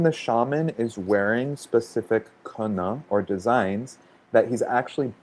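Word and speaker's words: kene: And there's a word in the Shipibo language called kena. So that's spelled K-E-N-E, but they're the way that it's pronounced kena.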